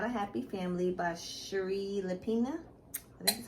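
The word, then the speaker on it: Shari Lapena: i read was not a happy family by sheree lepina this is how you pronounce her name girl you just picked up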